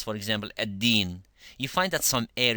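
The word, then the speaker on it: الدين: They say maliki yawmit teen. Teen means figs, the fruit, figs. And when you say maliki yawmiddin, ad-din has a different meaning. Maliki yawmiddin, ad-din, ad-din, rather than to say ad-teen, so you let the air come out, becomes like dal.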